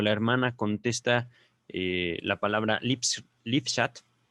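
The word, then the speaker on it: Lippschaft: hermana contesta la palabra lipschat, Lipschat, Lipschat, la estoy latinizando, ¿vale? Estoy pronunciándola como se pronunciaría digamos, en la concepción latina de la lengua. No estoy pronunciándola como un alemán la podría pronunciar.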